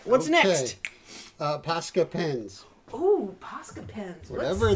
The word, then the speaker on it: Posca: Posca pens.